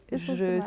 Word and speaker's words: Essence des Mares: Et ton site s'appelle Essence des Mares. Oui, Essence des Mares. Je suis navrée si la prononciation elle est non, fausse.